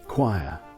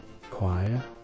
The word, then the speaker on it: choir: a group of singers choir what choir but it's one letter away from chair but it's connected to coral coral chair choir and coral all begin with ch so how can ch make three different sounds and there's champagne it's